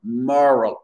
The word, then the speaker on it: moral: Moral. Le O devient une sorte de AE.